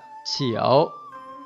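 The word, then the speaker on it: 九: Trong tiếng Trung đọc là chiểu, chiểu, chiểu.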